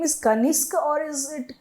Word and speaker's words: Kanisk: So your name is Kaniska or is it Kanesk?